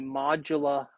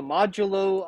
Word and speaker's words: modulo: new operator called the, we're going to use the modula operator. So it's called the modulo operator.